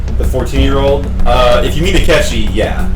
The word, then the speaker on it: Akechi: His name rhymes with Bletchy. Goro Akechi.